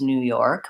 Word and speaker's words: New York: Newark and New York I tend to stress the second syllable or both syllables New York but mostly second syllable is more important so the new is the same York has an or vowel so same as this the word you're with okay New York versus